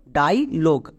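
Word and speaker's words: dialogue: এর জন্য গো ব্যাস এবার দেখো শব্দের শেষে আবার কিন্তু ব্লেন্ডিং ওয়ার্ড ইউই আছে কিন্তু এই ইউই এখানে সাইলেন্ট থাকবে মানে এর উচ্চারণ হবে না তাহলে পুরো ওয়ার্ডের উচ্চারণ কি দাড়ালো ডাইলোগ সো ইংরেজি ওয়ার্ডে যদি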